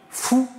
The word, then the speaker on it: Fu: C'est parce que FU en chinois, ça se prononce fou.